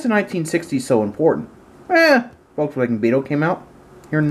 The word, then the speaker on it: Volkswagen: the volkswagen new beetle or as we americans say it volkswagen technically it's volkswagen just saying anyway in 1997 the